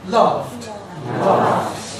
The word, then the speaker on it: laughed: Laugh gives us laughed. Or if you want an American pronunciation, laugh. Laugh. Same principle applies. Then it's not laugh and it's not laughed.